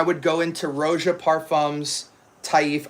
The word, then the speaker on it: Taif: This is one of the most elite niche brands out there and it's called Taif Aud because Taif is the name of the rose.